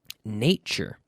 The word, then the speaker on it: nature: to that if them nature nature nature oh there's that nice tu sound again nature nature pronunciation yes